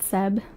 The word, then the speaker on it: Seb: I really liked this song, and it's called Seaside by, I think you pronounce it Seb, S-E-B, and, yeah, I really like the song, and it fits like the summer vibes.